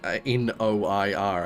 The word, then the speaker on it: noir: And it's spelled like that, like you pronounce it that way because you're basically just pronouncing the vowels. Noir. Noir. With the I being an ah sound.